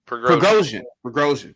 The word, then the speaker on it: Prigozhin: How do you pronounce the guy's name? Prigozhin. Prigozhin.